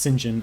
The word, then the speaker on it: St. John: work for and eventually live with a character singen um which is written St John but pronounced singen I learned since I was listening to the